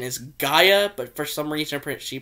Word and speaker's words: Gaia: greek goddess of the earth which the correct pronunciation is gaia but for some reason she pronounces the gia it should be gaia but it's the way